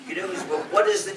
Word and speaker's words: GNU: If you call it please pronounce it GNU. Don't pronounce it new.